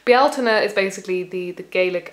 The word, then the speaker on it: Bealtaine: But in modern Irish, it's Belina.